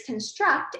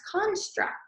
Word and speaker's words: construct: when it is a verb the word is construct and it means to build or establish my user knowledge of coding to constructing you act when it is a noun the word is pronounced construct and that means a theory idea or something